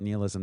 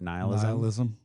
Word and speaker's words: nihilism: And I like that you call it nihilism. That's how my wife pronounces it too. I've always pronounced it nihilism. But like annihilate.